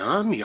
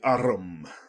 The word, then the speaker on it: arm: window sure it's an army Runner he pronounced it arum an arm you goose who ever saw